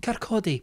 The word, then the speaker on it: Kirkcaldy: We are going to a place in Kirkcaldy in Scotland. Kirkcaldy. It's pronounced Kirkcaldy.